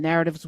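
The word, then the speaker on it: Knarrative: the Nubia platform and narratives with the K like knowledge the K is silent so there's a k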